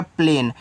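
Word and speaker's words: plane: ए आपका हो गया प्लेन। यहां इस इ का उच्चारण नहीं कहना है।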